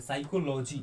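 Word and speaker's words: psychology: तो में क्या पी साइलेंट है। साइकोलॉजी मतलब मनोविज्ञान।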